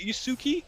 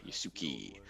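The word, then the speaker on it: Yasuke: so this is um it's pronounced really is it yuzuki yeah yusuke the the the story of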